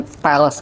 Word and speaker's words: Pals: Tapi lucunya dulu media suka memplesetinnya jadi Palembang sekali. Karena dipikirkan karena kita dari Palembang, ini jangan-jangan Palembang sekali nih. Padahal mestinya benar bacanya Pals.